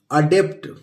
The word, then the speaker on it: adept: ये है दोस्तों एड, और ये लिखा है ADEPT, अडेप्ट। एडेप्ट नहीं पढ़ेंगे दोस्तों, अडेप्ट।